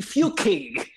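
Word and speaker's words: Fucking: ck ing ah yes but it's pronounced differently from you know the act of doing said thing that I spelled mm-hmm oh you mean I mean few key you know I'm telling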